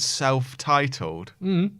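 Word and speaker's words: Celph Titled: There's actually a rapper called Self-Titled. What's it spelled like? CELPH.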